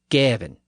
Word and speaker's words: Gawain: and that suggests that he pronounced the word preve as prev, and given as Gavin.